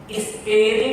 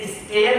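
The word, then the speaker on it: stare: Model जो है वो स्पेरी डिसाइसिस, एक्चुअली SPARE, इसे स्टेयर नहीं कहते हैं, इट इज स्पेरी। लैटिन में अगर ई शब्द प्रयोग होता है तो उसे आई प्रोनाउंस करते हैं, तो इट्स स्पेरी डिसाइसिस एक्ट नॉन कोइटा मूविरी।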